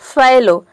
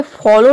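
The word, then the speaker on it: fallow: रहा है बलून बलून मतलब होता है गुबारा फैलो अब यहां पे देखिए ये फॉलो नहीं है फॉलो में होता है ए ओ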